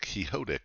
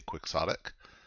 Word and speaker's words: Quixotic: I always think this should be pronounced Quixotic because Don Quixote, but here a lot of people say Quixotic.